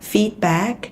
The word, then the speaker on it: feedback: How do you handle feedback? Đọc với Thủy nha, cái chữ feedback đừng đọc là feedback mà nó sẽ là âm y dài e. Feed và back.